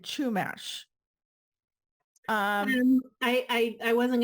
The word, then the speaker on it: Chumash: um to having said chumash um i i i wasn't gonna correct you a lot people say it different ways i say shumash but a lot of people will pronounce the h more um but i i